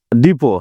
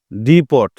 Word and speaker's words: depot: কি মনে রাখা যাবে ডিপো হ্যাঁ আবার ইংলিশে উচ্চারণ করলে আমরা পট আসতেছে ডি পট নরমালি ইংলিশে যদি আমরা ভুল উচ্চারণ করি তাহলে ডি পি ও টি তাহলে ডি পট পট